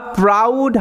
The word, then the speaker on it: proud: তার টাইটেল হচ্ছে দ্যা প্রাউড hermit এখানে দেখো ও ইউ এটার উচ্চারণটা আউ এরকম ভাবে হচ্ছে কিরকম ভাবে আউ ঠিক